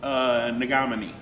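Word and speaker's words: Negamanee: It rhymes with Menominee. Nagamani.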